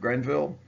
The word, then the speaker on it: Greenville: war of 1812 and it's called the Treaty of Grenville even though it's spelled Greenville it's credible so well